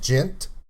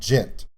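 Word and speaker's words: djent: here uh it's called gent some people say gent but i'm pretty sure the d is silent similar to jimbei it's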